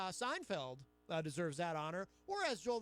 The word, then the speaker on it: Seinfeld: pronounce it shots but he will put a T in the word Seinfeld where it doesn't necessarily belong but that's why we